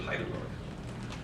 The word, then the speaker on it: Heidelberg: We pronounce it Heidelberg, like the city Heidelberg.